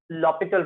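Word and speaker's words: L'Hôpital: Sometimes generally when I pronounce I called it this read it this as L'Hopital rule. कुछ word जिसमें से silent है, तो we read this as L'Hopital rule.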